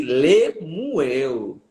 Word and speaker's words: Lemuel: Há quem diga que a pronúncia correta é palavras para Muel. Hum, palavras para morrer. Palavras para Muel. É por isso que Lemuel. É como nós lemos Bar Jesus.